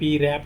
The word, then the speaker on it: wrap: WR में W silent रहता है। WRAP रैप मतलब लपेटना।